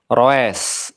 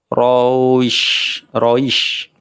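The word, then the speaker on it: قريش: Quraisy ini bacaan apa? Lin atau lembut, di mana ada fathah dari huruf ra diikuti dengan ya sukun. Quraisy, jangan sampai kita membacanya roes, ya, roesh, salah. Quraisy, roish.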